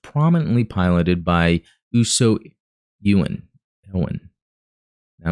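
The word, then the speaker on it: Ewin: Ewan. Now, I'm trying to think of how I remember hearing that pronounced, but it's been a while. I'm going to say Ewan right now.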